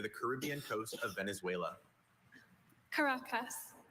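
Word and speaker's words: Caracas: Karacas. Karacas. May I please have the definition? Karacas is a city near the Caribbean coast of Venezuela. Caracus.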